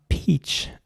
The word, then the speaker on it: peach: And again, you have to focus on the CH at the end and pronounce it like a sh sound, peach. Not ch or something, but peach.